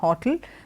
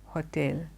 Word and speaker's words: hotel: word h.o.t e el it's not hotle the stress does not fall that way it is hotel Hotel not Hotel it